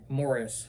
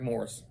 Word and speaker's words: Morse: The book is Shadowman versus the Undead by William Pattison, aka Eric Morse, or Morris, however he pronounces his name this week. It's Eric Morse.